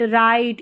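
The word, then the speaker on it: right: लाइट, माइट, राइट इन सभी spelling में जी एच रहता है। वह साइलेंट रहता है।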